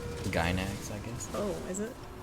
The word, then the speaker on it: Gainax: Oh, Half HP Studios and Gainax.